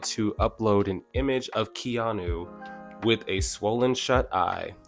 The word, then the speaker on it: Keanu: about that thank you people were telling me it's just like Keanu Reeves okay so moonji in